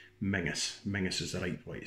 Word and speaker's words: Menzies: Menzies Emmy and z are yes but it's pronounced menace menaces that ain't where you see it so mrs.